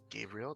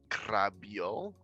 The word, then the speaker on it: Gabriel: gray brielle because it's people who cannot say my name in spanish for whatever reason i don't know why people can't say gabriel they say krabio which is just i don't know what that means but anyways you can find